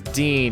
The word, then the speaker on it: Dean: the gutter and focus my name is Dean and it rhymes with peen Dean the pain where